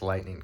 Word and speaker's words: lightning: First, the Chinese deleted useless lightning cuts. For anyone unfamiliar with this concept, the word I'm saying is lightening, 3 syllables, lightening, or the process of making something lighter, rather than lightning, 2 syllables, which is the bolts